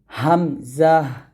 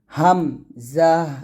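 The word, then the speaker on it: همزة: করে বলবেন হা এরকম তারপর হামজাহ লাস্টে একটা হয় আমি আগেই বলছি আপনাদের হামজাহ হামজাহ এরকম ভাবে পাতলক উচ্চারণ করবেন হামজাহ হামজাহ এরকম তারপর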